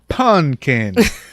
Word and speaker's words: Punkin: So, Punkin.